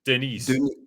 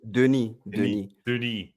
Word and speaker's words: Denis: That's how you pronounce it. Veal chop. Oh, okay. How do you say his first name? Denis. Denis.